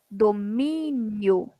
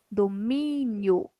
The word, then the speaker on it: domínio: Domínio. Domínio. Penúltima sílaba.